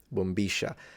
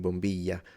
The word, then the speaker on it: bombilla: Double L in Argentina, they pronounce it like a sh, bombisha. Whereas the other girls are saying bombilla, so double L more like a y.